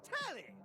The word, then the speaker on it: Telly: Before we get to what's on my screen, let me properly say the name's Telly. Rhymes with Nelly.